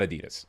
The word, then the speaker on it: Adidas: the name for for Adidas. So Adi Das, right? And that's how most people say it around the world. Yes. Yes. We're as Americans, we say it wrong. like it's not Adidas.